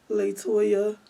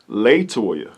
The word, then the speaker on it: La Toya: don't forget toyah so what is the correct pronunciation of your name latoya latoya little okay how how do you spell it